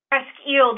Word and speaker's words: Presque Isle: She's a library director at, I didn't see how to pronounce this, the Presque Isle District Library? Presque Isle District Library.